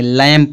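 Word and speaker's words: lamb: तो यम के बाद जब बी आएगा तो बी साइलेंट होगा ना। तो इसको जब बी क्या हो गया? साइलेंट हो गया, तो इसको क्या पढ़ेंगे? लैम्प पढ़ेंगे।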